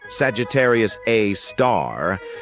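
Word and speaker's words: Sagittarius A*: We've got Sagittarius A, which is pronounced Sagittarius A star, This space monster is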